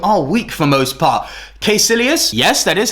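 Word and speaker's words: Kaecilius: in the MCU are weak for most part quilas yes that is how you pronounce his name Doctor Strange fans it's official now Marvel have said you pronounce this name quilas he is a good solid villain doesn't have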